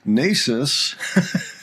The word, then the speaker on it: Naces: at 15, Nasis, yes, we've learned that the pronunciation is Nasis after some false starts.